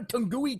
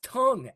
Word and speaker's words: tongue: Every time I learn a new word, you put a tungui twister in it. They said it's not tungui, it's tongue. Any word with a UE in it, the UE is silent.